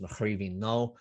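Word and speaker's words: Mo Chraoibhín Cnó: the bottom of the previous page uh it's pronounced machine no and it means my cluster of nuts it's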